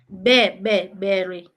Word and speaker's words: bury: Is it Barry? I think that's a spelling error also. But is it Barry? Not sure. How do we pronounce it? Bury. Berry. Berry. It's like the way we say burial.